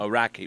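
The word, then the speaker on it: Orakei: world there Glenn at Orakai Basin. Yeah, the you got to get pronunciation right there. T the Iraqi basin. Iraqi basin.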